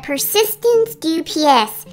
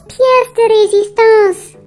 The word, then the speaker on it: pièce de résistance: Yeah, the unicorn I ordered will be the Persistence du PS. She should be here any minute. Biscuit, that's pièce de résistance.